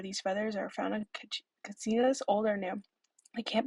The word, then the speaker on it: katsina: has a wall of katsinas on display. They are sometimes referred to as kachinas, but as Hopis provided a pronunciation of the name, as the CH sound is not part of their dialect.